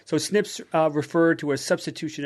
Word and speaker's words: SNPs: researchers looked for were single nucleotide polymorphisms snps which are pronounced Snips which we've which we've